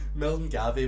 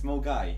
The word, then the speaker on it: Milngavie: That is the second worst way I could pronounce that. Milton Gavey would be worse. Yeah, Mulgai would have been 10 times worse. It's Mulgai.